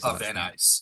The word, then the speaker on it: Van Nuys: How do you pronounce that? Van Nuys, is how I say it, yeah.